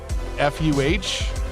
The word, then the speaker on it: Medford: from Medford, Medford, Medford, would say it Medford, like Medfuh. I don't know. I don't know what happens to it, but it's not Medford.